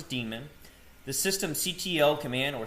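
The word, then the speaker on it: daemon: Today we're going to go over the boot sequence, the systemd demon. This is pronounced as demon, the system ctl command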